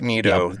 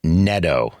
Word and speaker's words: Neto: Zach Neato, their starting shorts stop. It's pronounced Neto.